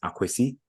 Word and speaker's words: Akwesi: So, for example, my proper name is if you're deep in the forest is Akwesi, is an A in front of the K, right?